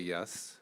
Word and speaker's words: Yess: Yes. Um, my last name is spelled ye ss. Second S is silent.